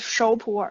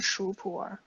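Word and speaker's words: 熟普洱: So it's shou pu'er, it's not shu pu'er.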